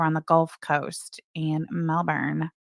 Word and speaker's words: Melbourne: keep pronouncing Melbourne, Florida, Melbourne. Floridians, at least in my recollection, being a native Floridian, they don't pronounce it Melbourne, Florida. It's Melbourne. It's just Melbourne, but I could be wrong.